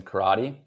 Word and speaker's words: Carotti: My name is Karate. Uh, C A R O TI, if you want to spell it out.